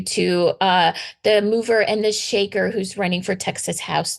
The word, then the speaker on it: Shekhar: And he said, it's like shaker, it's like mover and a shaker.